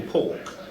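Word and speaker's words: pauk: They can go into a trance state which they call pork, which means they can. It's P-A-U-K. It's spelled.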